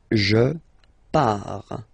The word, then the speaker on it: pars: Okay, so the first form is je pars, so final S not pronounced, je pars.